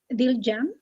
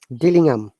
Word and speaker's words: Dillingham: Pronounce the H.